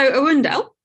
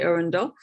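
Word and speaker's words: Earendel: so arundel um and i did check the pronunciation of this because i really feel like it should be arendelle but but i'm going to go with what nasa released and say arundel um what we see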